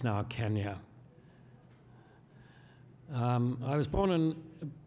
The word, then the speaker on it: Kenya: born and brought up in Nairobi Kenya we pronounced it Kenya in those days it's now Kenya um I was born and brought up in